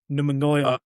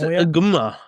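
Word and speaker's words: Ngumoha: But the three of us all picked Rio Numunoya from Liverpool. Did I pronounce that right? I think it's Nguma. Nguma.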